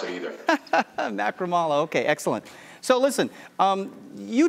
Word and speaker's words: Macaramalla: It's pronounced Macaramalla, but don't worry, my mom can't pronounce it either. Macaramalla, okay, excellent.